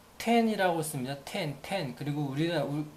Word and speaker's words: 天: 텐. 그리고 우리나라 그 일본 고유의 발음은 소라라고 있습니다.